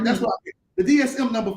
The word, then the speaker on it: DSM: It's Margaret's ability to make the Bible read like the DS5. Did I say it right? DS5? Is that right? DSM. Put the M on there.